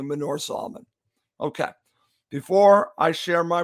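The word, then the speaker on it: Manor Solomon: on the right and Men or Solomon on the left and I said it wrong it's actually Menorah Solomon okay before I share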